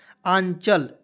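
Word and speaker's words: Anchal: सी एच ए से होता है दोस्तों च, और एल से लिखेंगे ल, तो ए एन सी एच ए एल, क्या पढ़ेंगे, आंचल।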